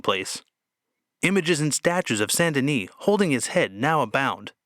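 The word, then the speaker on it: Saint-Denis: of her personal heroes saint dennis or in the more popular french pronunciation sandini sendani was a christian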